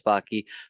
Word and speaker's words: Backe: So I'm Backe. It rhymes with hockey, and the first time you see it, it's just Backe, and you go, "How do you pronounce that?"